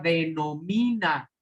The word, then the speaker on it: denomina: Entonces, por ejemplo, la palabra denomina, denomina, la fuerza está en mí.